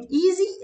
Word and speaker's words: easy: تمام هنا بيقول لك في ملحوظة ان في كلمة easy الاس هنطقها زد علشان هي مثل صوت حرف زد، عشان هي كان في قبلها هنا متحرك easy.